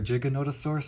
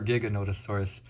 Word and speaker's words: Giganotosaurus: to pronounce this one it's either Giganotosaurus or Giganotosaurus I grew up pronouncing it g Giganotosaurus didn't start hearing it pronounced Giganotosaurus until Jurassic world Dominion but yeah everyone's been